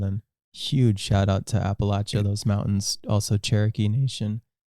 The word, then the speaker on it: Appalachia: you know back in I always say it wrong appach Appalachia that the Appalachia Mountains and the people back